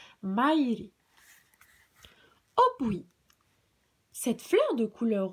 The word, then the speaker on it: maire: Se prononce Maire.